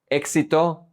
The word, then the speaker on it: éxito: Some people in Latin America have problems pronouncing the X sound, and they pronounce it like an S. Éxito, éxito, success.